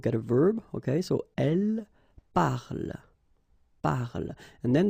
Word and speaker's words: elle: And then the last thing here that you will hear is the l. Okay? So, here is not pronounced, and it's not pronounced here. You don't say elle, but then you say elle. Elle parle.